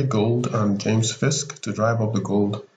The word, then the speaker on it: Fisk: Fisk sounds like frisk, doesn't it?